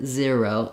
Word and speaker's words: zero: It's not zero, um, ze- zero. So, it's and it's not really an i either. Um, the ear is just not as tense of the e. If I'm saying zer- zero, um, I'm I am using that e sound. It's just as it as it's gliding into the diphthong er, it may sound a